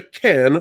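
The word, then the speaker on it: Cannes: an appearance at the can film festival folks you don't pronounce the S it's French they're weird that way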